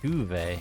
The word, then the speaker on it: Tove: Tuve. So that's how you say her name. I had zero idea this whole time. I just call her Tove.